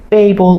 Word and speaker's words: Babel: about the Tower of Babel or Babble or however you um pronounce it sometimes people say Babble because it's all about language and babbling and and the different Lang languages